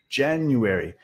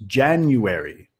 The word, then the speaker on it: January: Ok, acá cuando ven las letras en rojo, quiere decir que el estrés cae ahí. En inglés, solo una sílaba va a estar, va a tener, llevar el estrés, ¿no? Y todo lo demás va a estar un poco más quieto, un poco más corto. El estrés siempre lo vas a decir más fuerte, más larga.